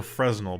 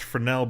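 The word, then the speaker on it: Fresnel: but um it's pronounced frel because it's French um but yeah it's a it's a French word it's a frel and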